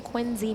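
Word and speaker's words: Quincy: Kenny Ten says, "Rich is from Quinzy, Mass." And I know that that's how you pronounce it because my ex-boyfriend is from Quinzy.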